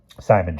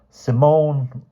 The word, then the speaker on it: Simon: "Simon Bolivar Quentin Farranier. We have the same number of names. I pronounced Simon the English way instead of the Spanish way."